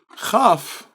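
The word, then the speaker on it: כ: without the dot okay it is the same pronunciation as the eighth letter of the alphabet which is okay so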